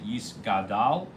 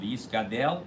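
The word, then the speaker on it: יִתְגַּדֵּל: Hebrew, and so therefore the Daled should be pronounced in both of them with a tzereh, the A sound, the two dots underneath. Okay? And you shouldn't pronounce it with a shva or a patach.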